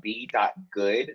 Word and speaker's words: Goode: Hey, everyone can follow me on Instagram, b.goode. The E is silent.